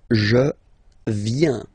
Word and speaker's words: viens: First form, je viens. Final S not pronounced. Je viens. Remember, I-E-N, ien, ien.